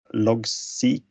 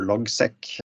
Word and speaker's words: Logseq: Next time I will talk about how I use Logseq or Logseq, depending on how you pronounce it, for my GTD system.